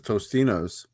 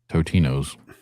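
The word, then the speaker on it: Totino's: I I swear when I was a kid, it's Tostinos. It's never been Tostinos. It's always been Totinos.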